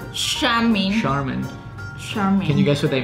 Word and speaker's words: Charmin: she is tricky because you don't pronounce this as a church it's a shirt chamois Charmin can you guess what